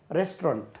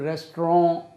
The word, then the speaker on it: restaurant: அதுக்கு இன்னொரு உச்சரிப்பு ரெஸ்ட்ரான் அப்படின்னு ஒரு உச்சரிப்பு இருக்குது. எப்படி? ரெஸ்ட்ரான் ரெஸ்ட்ரான்.